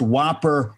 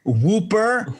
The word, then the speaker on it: Whopper: what what's worse that he pronounced whopper whooper where they don't smell whoppers